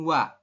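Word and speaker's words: 와: Jadi harusnya kita bacanya OA seperti ini. Tapi menurut aturan baca di sini Anda bacanya adalah langsung WA. Ya, bukan OA tapi dibacanya WA.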